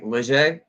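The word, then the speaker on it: Léger: So I picked up a Pedersoli 1763 Leger because I Mhm. think R is silent, or 1766 light.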